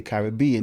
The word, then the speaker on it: Caribbean: So therefore we are the Caribbean people. That's why that pronunciation is used there. In North America, they say Caribbean because it's B-E-A-N.